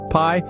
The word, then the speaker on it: pi: friends it's even better pie pronounced just like your favorite sweet treat is a mathematical